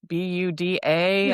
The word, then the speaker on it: Buda: Yeah, thanks for coming and learning more about Buda.